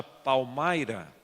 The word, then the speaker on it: Palmyra: Então, a primeira vez que eu fui a um lugar que se chama Palmyra, se escreve Palmira, pero se pronuncia Palmyra, em estado de Nova